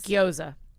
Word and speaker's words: gyoza: Gyoza.